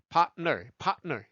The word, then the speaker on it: partner: 파트너 3음절 아니고요. 2음절이다. partner.